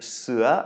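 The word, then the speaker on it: เสือ: are starting off with sewer which means Tiger a rising tone there then gap which is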